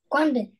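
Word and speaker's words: Quảng Bình: Quang Binh. Quang Binh. Oh, I don't know. Can you spell it?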